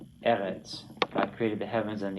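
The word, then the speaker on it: אֶרֶץ: here about how he highlights the non-final stressed syllable. Do you follow how that works? Okay. Another word right out of Genesis 1. Eretz.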